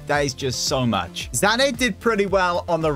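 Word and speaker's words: Sané: Zane did pretty well on the right as well.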